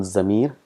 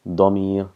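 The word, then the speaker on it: ضمير: It's not zamir, it's damir, dad. So just practice a little bit pronunciation, damir.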